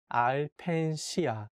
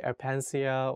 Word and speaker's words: Alpensia: is called aipan shia the correct way to say is al penshiya aipan shia you can for sure say apensia or in different way but if you want to sound like a native korean you can say ai pension so in the sentence